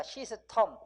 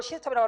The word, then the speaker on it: system: 또 SYSTEM은 실제 발음은 시스텀입니다. 시스텀. 그렇지만 우리는 이걸 시스템이라고 하고 뭐라고 그래요? 시스템이라고 하죠.